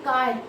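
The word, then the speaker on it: χ: Pronunciation जो इसकी होगी वो होगी काय, ठीक है।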